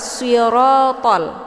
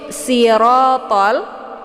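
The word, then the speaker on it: الصراط: Jadi bunyi yang sebenarnya di situ adalah siratal, shad dengan bentuk huruf shad. Jadi yang kita baca adalah siratal mustaqim. Nah, itu bacaan yang benar. Tapi kalau misalkan kita membacanya dengan bunyi sin, yaitu sirotol, bukan dengan shad tapi dengan sin, sirotol.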